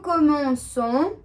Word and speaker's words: commençons: Now the reason we are adding the cedilla is to keep the pronunciation intact. That means same for all these subjects. As we can see for je, tu, il, elle, on, vous and il, elle, we are having the sound of se at the end.